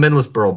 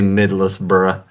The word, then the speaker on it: Middlesbrough: All right, Lucas Engel, RSL acquires Lucas Engel from Middlesbrough, buys out his contract. I know, I say Middlesbrough. How do you say it like a real Anglophile? Middlesbrough. Middlesbrough. Middlesbrough. It's the Middlesbrough. Okay, got it.